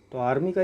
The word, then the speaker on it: coup: लेकिन प्रोनाउंस करते हैं कू, पी नहीं उसका बोलते।